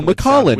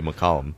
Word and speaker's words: McCollum: I'm And I say it's McCollum. M C O L L U M. And she's like, "Oh, Mollin." And I'm like, "That that sounds weird to me. It would obviously be McCollum."